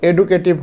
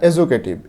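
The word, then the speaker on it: educative: As well as, as well as বলতে অ্যান্ড, এবং, এবং এজুকেটিভ, এটার উচ্চারণ কিন্তু এডুকেটিভ হবে না, এজুকেটিভ এবং শিক্ষণীয়।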